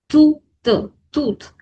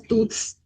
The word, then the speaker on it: toutes: And T-O-U-T-E-S pronunciation is the same, tooth. Okay, no need to pronounce this as tooths, toothes or anything else. It's only tooth.